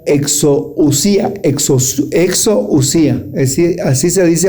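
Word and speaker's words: ἐξουσία: autoridad en el griego se la pronuncia exousía.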